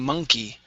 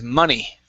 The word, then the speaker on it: money: And the last one here, you added a K to this word, saying monkey. Okay, the word here is money.